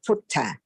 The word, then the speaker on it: Buddha: But Thai cannot pronounce the sound in Pali exactly. That's why we use the word ka for the, like Buddha, we use the word Putta.